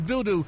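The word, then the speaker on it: Dodoo: Abram D-O-D-O, Doodoo. It ain't Dada? Dodo? Dodo? Well, it's spelled Doodoo. Yeah, Doodoo is 2 O's.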